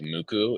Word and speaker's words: MUCC: There's this other Japanese nu metal band called Muku. It's spelled MUCC.